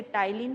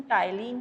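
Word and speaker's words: ptyalin: आपसे जैसे क्वेश्चन आता है, कभी आपसे पूछ लिया जाए टाइलिन is present in, T silence है, इसे टाइलिन प्रोनाउंस करते हैं, इसका प्रोनाउंसिएशन टाइलिन है, या इसी को सैलिवरी एमाइलेज भी कहते हैं, अल्फा एमाइलेज भी कहते हैं।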